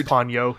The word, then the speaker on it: Ponyo: It is Ponyo. He was right. Okay, it is Ponyo.